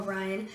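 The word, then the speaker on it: Ryne: how to spell Ryan it's actually spelled r y and e yep it's crazy Ryan Nelson if I if I was if I was his teacher I would have been like uh Ren Ren Ry not Ryan I'll tell you that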